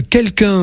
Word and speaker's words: Kelkun: Grégory Valency, vous êtes le fondateur de l'application pour smartphone Quelqu'un. Alors Quelqu'un, ça s'écrit Kelkun.